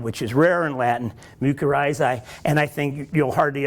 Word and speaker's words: mycorrhiza: Okay, the C always has to be hard. The I, if pronounced hard, would be an E, so it would be mycorrhiza, or else it would be mycorrhiza. I would say mycorrhiza.